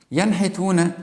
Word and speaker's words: ينحتون: Here, if I say the word ينحتون, okay, ينحتون here, I think you heard me that I pronounce the consonant nun here, yan.